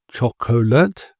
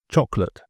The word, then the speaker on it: chocolate: And a lot of people might be tempted to pronounce this chocolate, but it's not. It's just chocolate.